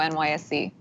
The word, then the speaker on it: NYSE: John, there's this online debate of whether how you pronounce NYSE. Is it NYSE or NYSE?